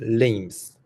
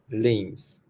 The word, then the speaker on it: limbs: Um, and the word just above it there is uh limbs. Limbs. The B is silent.